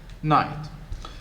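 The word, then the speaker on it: knight: uh why do we why do we spell the word night with ka beginning with k one when we do not pronounce it what is he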